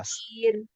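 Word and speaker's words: عسير: হুম, ফাযালিকা ইয়াউমাইযিন ইয়াউমুন আসির। আসির, সিনের আসির উচ্চারণ ক্লিয়ার করো। আসির।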